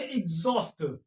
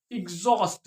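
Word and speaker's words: exhaust: एग्जॉस्ट एग्जॉस्ट क्या पढ़ेंगे एग्जॉस्ट क्यों क्योंकि आगे वाला जो कंसोनेंट है वो एच है एक्स के बाद और वो क्या है वो साइलेंट है एच क्या है साइलेंट है तो एक्स के बाद कौन सी आवाज निकल रही है वाउल की आवाज निकल रही है ए ई आई ओ यू तो इस वजह से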